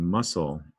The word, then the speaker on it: muscle: And in muscle, that C makes an S sound. It's almost like there's 2 S's there.